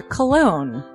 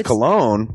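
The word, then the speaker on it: Colón: a self-published book by Christopher cologne Chris cologne smells good to me look at her that broke that cold little exteror like but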